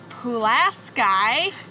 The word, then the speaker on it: Pulaski: campground review of brennan beach RV Resort in class guy I don't know why it's pronounced like that it's spelled Pulaski but we